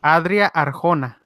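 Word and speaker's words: Adria Arjona: don't say can I print uncle's can I pronounce the name of the lady yes adrià Arkona thank you okay thank you so much I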